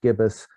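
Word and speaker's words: gIBIS: graphical so that became g-i-b-i-s pronounced gibbous which it wasn't but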